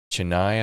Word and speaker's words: Chennai: has 7 multi-language hubs in Greece, in Athens, Chennai, I think it's pronounced, and Thessaloniki.